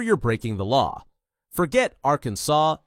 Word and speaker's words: Arkansas: Pronounce Arkansas correctly or you're breaking the law. Forget Arkansas, it's Arkansas.